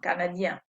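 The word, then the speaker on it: canadien: make it plural so this is a nasal sound if you plug your nose you can make the right sound canadian i'm not pronouncing the n the feminine i am pronouncing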